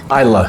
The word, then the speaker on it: Islay: Islay. If you look at it, if you looked at it phonetically, a lot of people like to say Islay. Islay, yeah. And it's pronounced Islay.